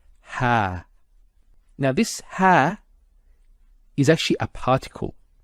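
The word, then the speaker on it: ها: Actually, in the mushaf you'll find that it's written in this way it's a small alif and that's just to do with the script and it's pronounced as ha.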